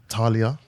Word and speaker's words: TAAHLIAH: TAAHLIAH.